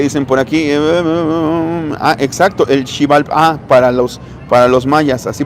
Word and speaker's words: Xibalbá: Exacto, el Xibalbá, para los mayas, así pronunciado en maya.